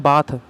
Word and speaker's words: bath: क्या अंतर है, देखो BATH इसको पढ़ते हैं बाथ, ये होता है एडजेक्टिव, ये होता है नाउन। BATHE इसको पढ़ते हैं बेद, इसका मतलब होता है वर्ब। क्लियर है, दोनों की प्रोनाउंसिएशन अलग है, दोनों के फॉर्म अलग हैं।